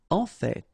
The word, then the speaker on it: en fait: en fait. So whether you pronounce the final T or not, you can hear both. En fait, en fait, en fait. I'd rather pronounce it personally.